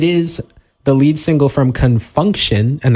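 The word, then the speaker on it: Con Funk Shun: So, it is the lead single from Confunction, and that is spelled C-O-N, Funk, F-U-N-K, and then Shun, S-H-U-N, off their 1982 album.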